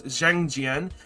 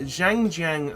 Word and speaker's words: Xiangjian: I believe the X is pronounced as a Z. So it's Xiangjian, and I don't know what these are going to do.